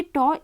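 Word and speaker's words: τ: ये टॉ इस तरह का साइन होता है, इसे टॉ से प्रोनाउंस किया जाता है।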